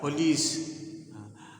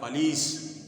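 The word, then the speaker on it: police: artillery और द पुलिस पुलिस पुलिस जो है प्लूरल होता है और इसका उच्चारण होता है पलिस नट पुलिस प्रोनाउंस पलिस तो इसके पहले भी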